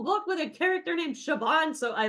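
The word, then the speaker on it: Siobhan: Grace her name is shoban it's an Irish name I heard that in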